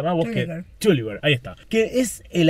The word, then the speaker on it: Terwilliger: ¿Cómo se pronuncia más vos? Terwilliger.